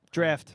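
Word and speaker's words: draught: was a drought drought draft draft that place yeah you know it's spelled drought but yeah he had some kind of hit like oh it's Bill drop this stupid Brit version draft people he had like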